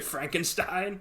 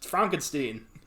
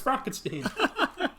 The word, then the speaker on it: Frankenstein: Dr. Frankenstein? It's Frankenstein. You're putting me on. Yeah. No, it's pronounced Frankenstein. Do you also say Frodrick?